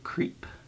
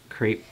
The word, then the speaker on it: crepe: super fine wool gabardine I think it's wool creep or crepe a lot of pronounce it it's the same letters as creep but crepe makes more sense and the ease might